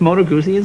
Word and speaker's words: Moto Guzzi: A Moto Guzzi. Did I pronounce that correctly? That's Moto Guzzi.